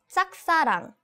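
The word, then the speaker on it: 짝사랑: love in Korean is saksarang right this uh the pronunciation of Jag is not easy in romanization we just say JJ yeah I know but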